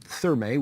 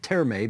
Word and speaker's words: Therme: You're calling it Therme, which I guess is the English pronunciation. I'm calling it Terme because technically the German pronunciation of the word doesn't pronounce the H rather.